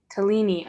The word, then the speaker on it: Talini: know how to say how do you say your name i don't want to say it wrong fellini talini okay talini's moving up she's